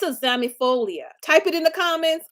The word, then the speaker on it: zamiifolia: The second one is zamifolia.